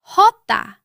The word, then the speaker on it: jota: Jota. Your turn. Jota. The Spanish J does not sound like the English J. It is produced farther back in the throat.